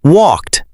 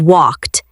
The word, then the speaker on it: walked: Like the verb walk, the past tense is walked. Let's talk about the pronunciation of walked. The ed at the end sounds like a quick t sound.